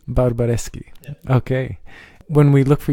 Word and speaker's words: Barbareschi: last name oh my my last name is barbareschi barbareschi okay when we look for you on Instagram